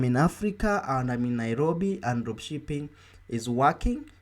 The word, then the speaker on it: Nairobi: of this training let me show you how nairobi is pronounced so i'm going to type nairobi then